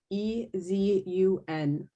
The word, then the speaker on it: Nibezun: Because it's the whole like speaking phonetically. It's Nibezun.